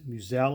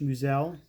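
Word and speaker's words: Meusel: card of bob muse muselle i believe is pronounced me musel um if you don't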